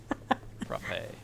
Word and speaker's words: frappe: Frappe. Frappe. Frappe. Frappe. Frappe. Okay, so that's how it's pronounced. Okay, frappe. Rhymes with crappe.